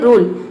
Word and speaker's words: rule: वो भी कॉन्सोनेंट है, लेकिन यहाँ पे यू को हम अ प्रोनाउंस नहीं करेंगे। ये होता है रूल, यू को यहाँ पे ऊ प्रोनाउंस किया जा रहा है, ये होता है रूल।